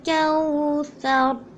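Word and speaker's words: الكوثر: Inna a'tayna kal kawthar. As we know that it is pronounced with like tha, like this, so we'll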